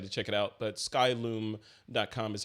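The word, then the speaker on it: Skylum: Kevin LaRue has corrected me on how to pronounce the name of his company its sky loom like loom LOM but the domain is sky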